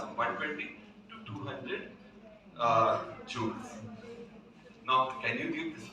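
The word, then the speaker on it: joule: Everybody says Jaw J u l it is pronounced as jew j o u l jew that is the upper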